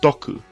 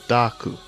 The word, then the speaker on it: Doku: name and scheme, as it's clearly pronounced Doku by Blue rather than Daku.